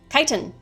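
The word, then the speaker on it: chitin: would be very similar to that would be kiten obligatory mini rant this word is pronounced kiten and I know that because I have a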